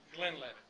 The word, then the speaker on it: Glenlivet: enough now glenn levitt it is pronounced the glen levitt this comes from a